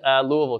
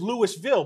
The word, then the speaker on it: Louisville: No, it looks like it says Louisville, but it's actually Louisville. It's a very contentious issue. If you say Louisville or Louisville, you get called out very quickly. They say you're supposed to say it like you have a spoon in your mouth.